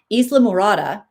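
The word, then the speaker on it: Islamorada: Isla Morada.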